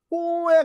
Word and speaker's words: poor: 포에 가깝습니다. 포. 그래서 포 이렇게 됩니다. 포, 오에 가까워요. My poor baby 이렇게 발음하더라고요. 들어보니까. 그래서 my poor baby라고 합니다. 그래서 포를 길게 하는 발음입니다. 오를 완전히 우가 아니고요. 오와 우의 중간 발음이에요.